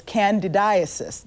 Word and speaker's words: candidiasis: latest information on a common condition known as candidiasis did I say it correctly dr.